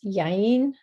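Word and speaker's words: יין: In Hebrew, it's yayin. It almost sounds like a kid talking, which I guess a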